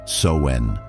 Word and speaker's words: Samhain: Samhain, remember that it is pronounced Soen, is a time of divination, of looking into